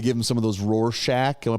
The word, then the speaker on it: Rorschach: They give him some of those Rorschach, am I pronouncing that right? Yep. Eye tests. Rorschach tests.